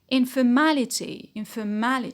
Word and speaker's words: informality: Informality, stress on ma because of the et.